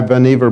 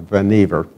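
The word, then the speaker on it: Vannevar: thought that article by vanever Bush I think it is pronounced vanever properly uh many of us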